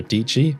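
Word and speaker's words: Dietschy: So you might remember a video somewhat recently by Sarah Dici, rhymes with Peachy, where they learned how to use Blender in 24 hours.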